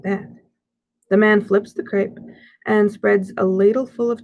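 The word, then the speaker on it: crêpe: the heavenly smell, and see a stall advertising crepes. What's a crepe? I ask, sounding out the word. Dad chuckles. It's pronounced crepe, he explains, and it's like a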